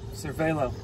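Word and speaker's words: Cervélo: Is that how you pronounce it? Yep, Cervelo.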